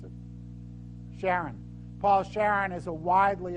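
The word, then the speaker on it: Charron: The head of this company, it's Paul Sharon, or Karen, how does he pronounce it? Sharon.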